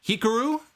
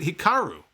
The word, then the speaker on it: Hikaru: Is it Hikaru, like Pikachu, or is it Hikaru? I think Hikaru is the way to say it.